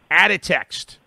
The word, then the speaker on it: Aditxt: i love this it's called i hope i pronounce it right out of text correct did i get it right that is